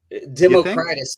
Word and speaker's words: Democritus: and I um between is it Democritus or democratus and there is a right answer to that question and it's whatever however I pronounce it from one moment to the next is how it is pronounced I heard you say